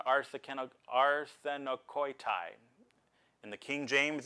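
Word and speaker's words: ἀρσενοκοῖται: of it and everything, is this word arsenikoitai. That's the Greek pronunciation, arsenikoitai.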